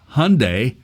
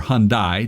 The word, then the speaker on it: Hyundai: of this but um Hyundai or Hyundai depending on how you want to pronounce that uh has decided to